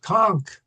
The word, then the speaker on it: Conch: So, how do we pronounce the word c? Anybody know? That's correct. Conchk.